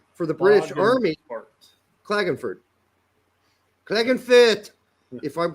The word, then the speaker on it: Klagenfurt: the central headquarters for the british army klagenfurt clegg and fit if i'm pronouncing like they pronounce it sklagonfit not clogging fert this sounds like it just sounds like some